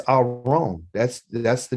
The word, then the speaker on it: aron: sounds like aaron doesn't it sounds like aaron okay but it's our own that's that's the name of the ark the ark is called aron a r o n